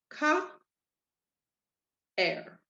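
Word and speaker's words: caer: So the rule says when you have two strong vowels coming together, you separate them. So what you're going to end up with are two syllables, ka, er. And you're going to hear both vowels because they are in two separate syllables right there. So you're going to hear them both separately.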